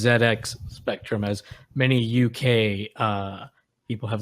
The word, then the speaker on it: ZX Spectrum: I can tell you, it has to be pronounced ZX Spectrum, as many UK people have let me know in my YouTube comments.